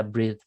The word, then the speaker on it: breathe: breathe, Aquí está breathe, breathe, breathe, breathe. Y tiene esa T y esa Z, esa pronunciación con esa vibración.